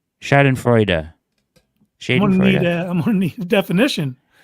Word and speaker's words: Schadenfreude: It's pronounced Schadenfreude. Schadenfreude.